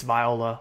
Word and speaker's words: Viola: I've been saying Viola. It's Viola.